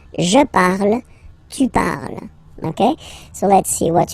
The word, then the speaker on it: parles: Then for tu, you will have to put es, okay, phonetically tu parles. So you've got the two first forms, you pronounce them the same way. You write them differently, of course, because you get here, and then you've got and s, okay, but then phonetically they are the same.